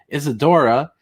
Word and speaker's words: Isidora: Here's Secret Comics Presents, and here's Lunga's book, Isadora.